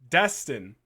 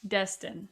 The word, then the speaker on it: Destin: Destin. Okay, Destin. Destin Daniel Crichton. Crichton. Okay. That's how I've heard people pronounce it.